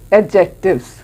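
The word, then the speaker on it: adjectives: हैं, and number 4 एडजेक्टिव्स, ठीक है? We call it एडजेक्टिव्स, नॉट एडजेक्टिव्स, D silent, एडजेक्टिव्स, okay?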